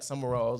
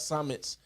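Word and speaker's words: Summitt: remember when the Pat sumall and all that all that type stuff was going on um now that I say her name right what it was Pat Summit I'm sorry said that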